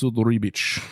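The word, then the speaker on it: Ribić: uh Ribbit riik um I said riik like he was a frog sorry he pronounces it is ribit cuz he's Croatian and he talks like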